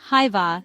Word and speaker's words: hyvää: The first word hyvää stays the same, pronounced hyvää. The second word, päivää, sounds like päivää with the emphasis on the first syllable.